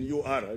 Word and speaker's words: Ur: It is written U-R. I don't know how they pronounce it. But we pronounce it in our language, Uri, Mesopotamia, and settled in Haran, Canaan.